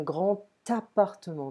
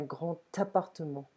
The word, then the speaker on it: grand appartement: Ok, un grand appartement. Ok, donc c'est avant. On écrit ça avec un D, mais ça se prononce T.